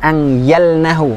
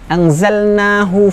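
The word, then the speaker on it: أنزلناه: Inna anzalnahu fi lailatul qadr. Qadr. Nun syidah, kemudian ikhfa, kemudian huruf zain ya. Anzalnahu bukan angyalnahu, yang sering kita dapati mengucapkan huruf zain menjadi huruf ya.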